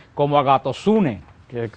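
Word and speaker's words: ἀγαθωσύνη: La Biblia se pronuncia como agatosune, que se pronuncia en griego la palabra bondad.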